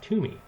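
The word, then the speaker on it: Toomey: Senate were today would you vote for Pat Tumi and Tumi is spelled out here so phonetically spelling Tumi is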